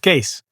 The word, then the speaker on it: Kees: It's the mind and the body, which my parents have called, and friends call Kees, which is, it's a Dutch spelling, but you say it like suitcase. So it's a case.